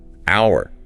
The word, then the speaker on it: hour: Try listing maybe five words, you know, have silent letters like, you know, hour, listen, island, psychology. Good ones. I know. Say them out loud. Really focus on not saying the silent letter.